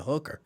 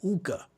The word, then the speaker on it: hookah: Every time I see that, I be like, I have to be careful about how I pronounce it because I don't want nobody to think I'm saying hooker. Because then they'd be like, we got hookah bars here. Like, no, hookah.